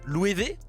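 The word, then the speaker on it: Loewe: s'écrit l o e W eh qui se prononce louée ça c'est juste pour casser les couilles des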